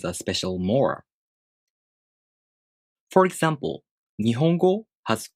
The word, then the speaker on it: 日本語: Then the word 日本語 takes 4 beats to pronounce. 日本語.